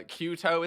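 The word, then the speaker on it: QTO: updating the wiki uh kyuto is spelled q-t-o very simple um uh so cute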